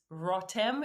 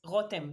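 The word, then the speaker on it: רותם: So up to becoming pregnant with Rotem, that's my daughter, and it's Rotem in if you pronounce the R in English, but it's Rotem in Hebrew.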